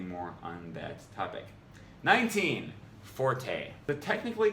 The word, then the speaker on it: forte: The word, which refers to one's strong point, is actually pronounced fort, not the commonly used forte.